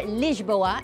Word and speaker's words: Lisboa: Lisbon, or Lisboa as the locals say, is of course the capital of beautiful Portugal.